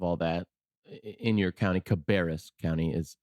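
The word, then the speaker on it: Cabarrus: on top of all that in your county cabis county is how it's pronounced thank you Brian no problem you know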